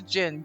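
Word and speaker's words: jinn: humans and also so spelling it j-i-n-n is the Arabic spelling um it's romanized as d-j-i-n-n or anglicized as genies and that's like that's why when people like oh a genie it's a gin it's that's just how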